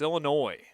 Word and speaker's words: Illinois: my friends in Illinois they'd always get bad when when some midwesterner says Illinois it's Illinois s is silent but anyway here we